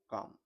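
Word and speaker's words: calm: एंड और द एिफेंट यानी हाथी बिकम हो गए या फिर बन गए काम यानी साथ यहां पर एल साइलेंट होता है काम बोलते हैं इसको काम एम से पहले साइलेंट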